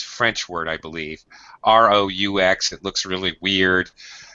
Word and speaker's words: roux: R-O-U-X. It looks really weird. So if you see this word, it's pronounced roux, just like R-U-E, which is a totally different word.